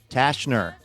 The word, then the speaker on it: Tashner: And, well, we couldn't do this show without folks like Jolene Tashner. That's Jolene, like the song. Tashner, the C is silent.